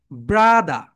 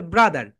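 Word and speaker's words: brother: ব্রাদা। British sound হবে ব্রাদা, and American sound হবে ব্রাদার।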